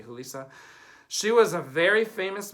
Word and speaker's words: Julissa: Also in this movie is, and I think we would pronounce her name Julissa because she's Mexican. Looks like Julissa for English, but I think it would be Julissa.